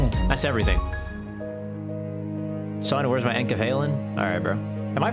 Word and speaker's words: enkephalin: Son, where's my enkephalin? Alright, bro. Am I pronouncing it right? Is it enkephalin or enkephalin? Enkephalin? Enkephalin? Enkephalin? Enkephalin? Enkephalin sounds right. Because it's meant to sound like a drug, right?